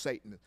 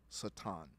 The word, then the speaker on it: Satan: construct construct that's called Satan yes it's not pronounced Satan it's pronounced Satan and in the Hebrew writings it's never by